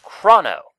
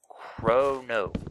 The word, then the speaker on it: Chrono: Just like, I'm Chrono, not Chrono, which is a common mispronunciation of my name if people just see it. Nope. Chrono. Long O. Long O, even though I don't declare that it's a long O by using an E anywhere.